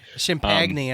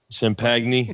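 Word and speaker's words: Champagnie: is Justin champagne yeh yeah that's how you say it Shemp agony I say sham peg knee yeah he he was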